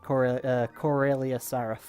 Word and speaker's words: Sarath: Well, actually, I pronounce it Corelia Saraf.